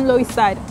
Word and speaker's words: Loisaida: And a friend of us explained they used to be for Lower East Side, but the locals were pronouncing it really fast, Lower East Side, Lower East Side. So suddenly it became Loisaida.